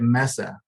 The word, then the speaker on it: Mesa: at Without Walls in Mesa Arizona Jeff Watkins it's a Mesa Arizona is it not Mesa is it Misa is it Mesa or Misa it's Mesa you know what you